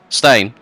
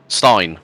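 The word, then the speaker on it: Stijn: say his name what stain no stain venman not stain Stein probably because IJ normally represents a y in Dutch yeah it's Stein vman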